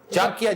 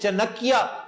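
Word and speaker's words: चाणक्य: चांकिया, जिसे चनकिया कहकर miss pronounce करते हैं लोग, चनकिया नहीं है, चांकिया कोतलिया।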